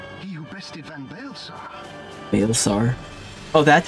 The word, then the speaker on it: Baelsar: Baelsar. Oh, that's how that's pronounced?